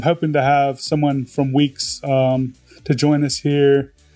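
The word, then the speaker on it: Weex: second pick is a framework called weeks it's spelled we X it's uh released by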